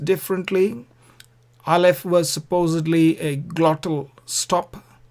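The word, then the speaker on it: א: Now, these two letters are silent, as I said, aleph and ayin. Unless there is a vowel, they are silent.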